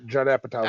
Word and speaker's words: Apatow: Judd Apatow.